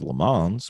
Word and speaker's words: Le Mans: like the 24-hour of Le Mans, which is not 24-hour of Lemons mispronounced. It's actually the other way around.